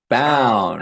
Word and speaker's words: Bown: It's Brown without the R. That's how I remember it. Bound.